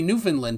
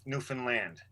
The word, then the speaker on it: Newfoundland: eastern 10 what uh atlantic and 10 30 newfoundland time because the new fees gotta know uh